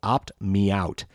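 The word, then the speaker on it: OptMeowt: kind of cute called opt me out and that's opt opt and and meow is spelled like a cat's meow m-e-o-w-t me out opt me out anyway if you install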